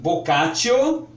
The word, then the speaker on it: Boccaccio: alemão pronuncie gente Giovani vocation se liga para o moço aqui escreve-se boccaccio mas a pronúncia é vocatio também conhecido no Brasil